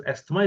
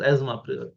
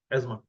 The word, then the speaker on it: asthma: happens in Asma or normally people call it as asthma it is Asma correctly pronounced as Asma Asma you will there